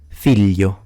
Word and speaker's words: figlio: of the word, but in general, the GL will be pronounced as a lie sound in standard and as a Y in southern accents. Let me give you examples. Tagliatelle, figlio, famiglia, maglia, gli, which